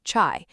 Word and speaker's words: chai: Turkish tea, chai, pronounced chai.